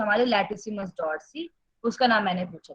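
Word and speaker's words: dorsi: डॉर्सी, डॉर्सल नहीं, डॉर्सी, ठीक है।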